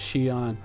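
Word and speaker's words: Xi'an: XI XI e so V on ships are pronounced Xian yet often this is like a big thing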